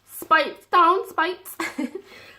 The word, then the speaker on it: Speightstown: We went to Speightstown. Speightstown.